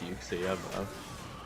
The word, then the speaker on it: Uxie: No, it's Uxie, it is pronounced Uxie.